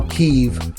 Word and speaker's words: Keve: That's basically how Keev fights. And I love his name cuz it sounds like Cleaver. Cleave. He cuts you in half. So Keev and it's spelled K E V.